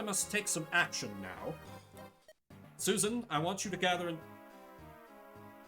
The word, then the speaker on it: Susan: Susan, I want you to gather. That's honestly how it's supposed to be pronounced, isn't it? It's Suzanne. Susan.